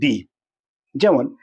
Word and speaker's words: the: তো তোমরা মাথায় রাখবে যখন কোনো ওয়ার্ডটা শুরু হচ্ছে ভাওয়েল দ্বারা, অর্থাৎ এই আই ও ইউ বা ভাওয়েলের মতন যদি কোনো উচ্চারণ হয় তাহলে সেই ওয়ার্ডের আগে যদি THE থাকে তাহলে তার উচ্চারণ হবে দি।